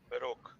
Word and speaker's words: Baroque: Sir, am I right, sir? The Baroque? Baroque. Baroque. That's how you pronounce it.